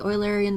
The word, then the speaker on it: Eulerian: the oil Arian instead the Eulerian or the oil Arian depending on how you pronounce the mathematician will be we're gonna